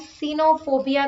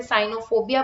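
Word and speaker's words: cynophobia: तो साइनोफोबिया या सीनोफोबिया दोनों तरीके से आप प्रोनाउंस कर सकते हैं इसको, वैसे साइनोफोबिया प्रोनाउंस किया जाता है।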